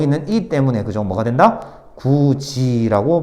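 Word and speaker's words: 굳이: 잘못 생각하지 마세요 그냥 디귿이 지읒으로 바뀌는 거야 그냥 알겠지 이거 어차피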